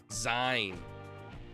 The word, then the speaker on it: zine: It's pronounced like the end of the word magazine. Zen Zen. Zine.